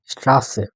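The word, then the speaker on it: Straße: তো এইটার যে একটা শব্দ দেওয়া আছে এস টে ইয়া আ এসেট এ, একত্রে স্ট্রাসে।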